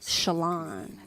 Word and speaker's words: Shalon: I am Shalon. That's how you say it.